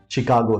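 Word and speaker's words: Chicago: तीसरा word machine है और नहीं चौथा वर्ड शिकागो है इट्स नॉट लाइक इन सारे वर्ड्स में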